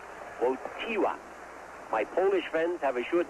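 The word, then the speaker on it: Wojtyła: name yet for Stila it's wotty wot wotty wotty wot the accent is on the tee won't Tiwa although you spell it woj di la whoa Tiwa my polish friends have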